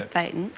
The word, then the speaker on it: thetan: So a thetan, we pronounce it a thetan, in Scientology is a consciousness.